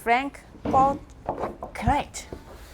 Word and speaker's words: Franck Boclet: How do you pronounce it? Franck boclet 他的名字 His name.